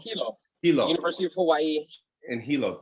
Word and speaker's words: Hilo: Hilo. University of Hawaii. In Hilo, which is really cool that you got to study. Hilo, Hawaii is the second largest city in the state. Okay. Yeah, Hilo is the second largest city in the state,